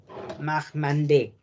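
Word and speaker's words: Marmande: Si hay una A y una I latina, es una E. Marmandé. La S recuerden que no se pronuncia. Marmandé. Una A y una I se pronuncia como una E.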